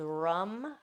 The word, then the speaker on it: ram: For the solar plexus, it's Rum, spelled Ram.